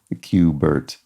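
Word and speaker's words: Q*bert: um good it's appropriate to this puzzle because Qbert a Q B is sort of working together to phonetically create the implication of the word cube.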